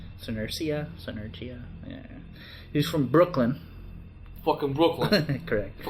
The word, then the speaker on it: Senerchia: So his opponent, Tasmaniac, aka Peter Senerchia, I believe is how you pronounce it. Senerchia.